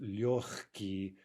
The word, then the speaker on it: легкий: Remember that g, right, the Russian G in front of that ka, right, the K in this adjective легкий, right, the g is pronounced like ch.